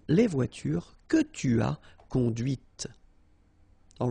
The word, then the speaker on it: conduite: And that's when you hear the difference between conduit, because remember, final T is not pronounced, conduit, here, and then the feminine, conduite. Okay, so here you can listen to this t, t, okay, conduite, all right?